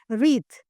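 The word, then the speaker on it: wreath: I explain it you just now आई विथ the help of a picture रीथ।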